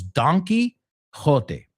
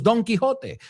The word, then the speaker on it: Don Quixote: All right, well, number one was Don Quixote. I'll say it in the Spanish pronunciation. Americans would say donkey.